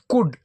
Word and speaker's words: could: फिर देखो ये वापस एल वाला स्पेलिंग COULD, इसको क्या बोलेंगे? कुड, इसमें एल नहीं बोला जाएगा, एल साइलेंट रहेगा।